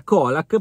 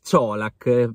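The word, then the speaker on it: Čolak: già soprannominato coca-colack perché per noi la pronuncia era Kodak però abbiamo già visto diciamo nel video del presentazione del Parma che si pronuncia ciolak per lui in Italia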